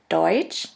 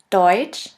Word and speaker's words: Deutsch: The next letter combination is TSCH, TSCH, which is simply pronounced like a CH in English. Here we have the example of the word Deutsch, Deutsch, which means German, and of the word Tschüss, Tschüss, which means bye.